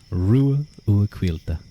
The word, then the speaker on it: Ruadh: my name but okay the name is pronounced ruil ruil it kind of reminds